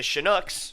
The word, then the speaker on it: Chinooks: Pitching for the Chinooks, the Chinooks, for those of you who are sticklers on pronunciation, is number 14, Nelson Schutte, who, full disclosure, just arrived at about midnight tonight.